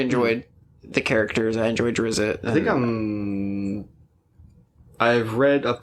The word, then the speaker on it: Drizzt: You're up to book 20 of Drizzt, Ari the Salvatore. Drizzt. Yeah, the Drizzt. Or Drizzt, or I don't know. However you pronounce that. I say Drizzt, but... It's not spelled to be pronounced in English.